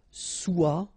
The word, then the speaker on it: soit: Okay, then of course être and avoir, so être will become soit, remember final S is not pronounced, soit, then soyons, soyez,